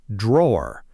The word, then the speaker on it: drawer: Drawer, the piece of furniture, is drawer, almost one syllable.